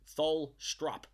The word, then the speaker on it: Tholstrup: I don't think I've pronounced his name correctly once, but Tholstrup. There we go.